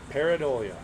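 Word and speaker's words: Pareidolia: How do I pronounce it? Paridolia.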